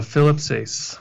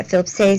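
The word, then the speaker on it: Philip Sayce: Philip Sace. Yeah, Philip Sace, Yeah.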